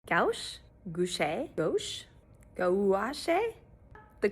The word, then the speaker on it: gouache: Gouache, gouache, gouache, gouache. The correct pronunciation is gouache, gouache. You say it kind of like all one word, gouache.